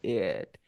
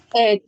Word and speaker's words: it: Tenemos el I, you, we, they, he, she, it. Como pueden observar, para pronunciar este pronombre de aquí, tienes que poner tu boca de I, pero dices la E.